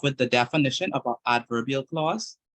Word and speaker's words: adverbial: to be looking at adverbal adverbial Clauses that's how we pronounce them adverbial clauses and maybe next last